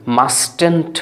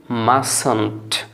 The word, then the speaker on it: mustn't: Contraction করে সংক্ষিপ্ত ফর্মে, তখন মাস্টেন্ট বলবেন না, কারণ বানানটা খেয়াল করেন, MUSTN'T, মাস্টেন্টটি আসে হিসেবে, কিন্তু আপনি এটা উচ্চারণ করবেন মাসন্ট, মাসন্ট, মাসন্ট।